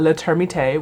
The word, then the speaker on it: Le Termite: So Maggie goes to her best friend Raina's job at Le Termite, which is how it is pronounced, which is, I guess, a French restaurant specifically for termites.